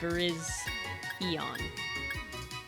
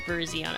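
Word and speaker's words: Virizion: Cobalt Lion, Terracoin, and Veriz Eon. Goodbye, Twister. I've been calling it Verizion.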